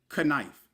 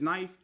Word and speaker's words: knife: You wouldn't say kife. The vowels are silent like how the K and knife is silent. Like you wouldn't say kife, it's just knife.